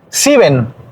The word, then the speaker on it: sieben: La I junto con la E hace desaparecer o hace callar a la E en el idioma. Sieben. Se pronuncia como si no estuviera esa primera E. S-I-E-B-E-N y esa S-I-E, esa E no suena.